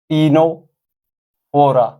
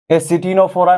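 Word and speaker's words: Ctenophora: third phylum phylum टीनो फोरा एटिनोफोरा नहीं है सी यहां पर साइलेंट रहता है टीनोफोरा कॉमनली कॉल्ड कॉमजेलीज कॉमनली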